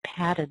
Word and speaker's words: patted: So in these particular words, you actually add an extra syllable on, and you hear the vowel sound, which in most cases is a schwa.